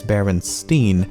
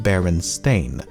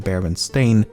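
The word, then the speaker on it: Berenstain: First of all, I actually had to re-record this segment multiple times as I found myself pronouncing it Baronstein even when I should be saying Baron Stain and I've never even heard of the franchise before making this video.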